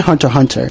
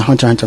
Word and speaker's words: Hunter x Hunter: from the Philippines, and Hunter x Hunter. No, you do not pronounce the X in the name, fight me.